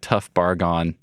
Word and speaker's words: Barghahn: One of your friends called you a tough Barghahn. Yeah. So that's how I remember your pronunciation of your last name. The hard bargain was There we go. Hard bargain.